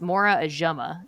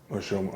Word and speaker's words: Ojomo: So you're looking at, I've been told it's Mora Ajuma. I said his name wrong. I said Ojomo. Ojomo, okay.